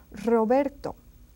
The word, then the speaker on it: Roberto: And then if this R is one R, initial R, it pronounced just as if it were a double R. That's why they're together in these rules. Roberto. Rosa is a rose, and rojo is the red color. Rojo, rosa, Roberto, and then carro, perro. You see, you can hear that they are strongly pronounced.